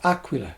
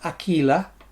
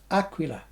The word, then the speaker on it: Aquila: the top selling brand, excellent strings, Aquila, or Aquila as it should be pronounced. Not Aquila. Never, ever, ever, ever pronounced Aquila. It's an Italian name, and it's Aquila.